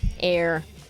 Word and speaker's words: Eyre: Eyre with an E. It is spelled funky. It's like E-Y... R-E, air.